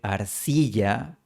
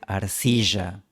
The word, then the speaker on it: arcilla: En vez de barro, pronuncia barro. En vez de arcilla, pronuncia arcilla. Y en vez de yo, pronuncia yo. Este estilo de distinción entre la doble L y la Y es típico del idioma indígena quichua y es común en el español serrano ecuatoriano.